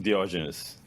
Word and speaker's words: Diogenes: And I have one today, Yuri, pronounced last name. Diogenes.